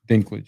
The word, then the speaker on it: Dinklage: Definitely Dinklage, yeah.